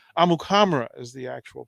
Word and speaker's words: Amukamara: this thing that's happened all this time right amukamara is the actual pronunciation yeah so okay well thanks during that